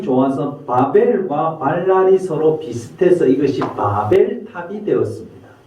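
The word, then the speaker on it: בלל: 그래서 주님께서 거기에 온 세상의 말을 발랄하여 뒤섞으셔서 사람들의 그곳 이름을 바벨이라고 한다. 주님께서 거기에서 사람들을 온 땅에 흩으셨다. 이 바벨이라는 곳은 바벨론을 가리키고요. 이 발랄과 바벨의 발음이 비슷해서 오늘날 이것이 바벨이 되었습니다.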